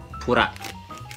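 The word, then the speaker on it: プラ: yang punya label ini ini dibacanya pura atau plastik jadi plastik plastik tapi di Jepang pura atau purastik dia mereka sebutnya purtik e lambang ini lambang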